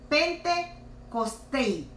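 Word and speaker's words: πεντηκοστή: Esta palabra viene de la palabra griega que pronunciada se oiría así: Pentecostei, cuya definición es el 50º día.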